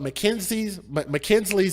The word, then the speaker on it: Makynslee: But Mackenzie's name is spelled Makynslee.